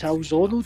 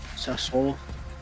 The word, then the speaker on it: Sassuolo: How do you say it? It gets Salzono, did you just say? Salzono versus Torino. Sassuolo.